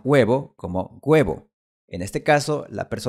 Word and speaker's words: huevo: Si te fijas bien, cuando pronuncio huevo, no estoy poniendo mis labios en posición redondeada como cuando pronuncio la palabra un. Huevo. Un. Esto es porque es un sonido diferente y lo puedes ver hasta en la forma de la boca.